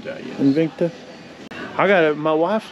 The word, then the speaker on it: Invicta: Invicta, yes. Invicta.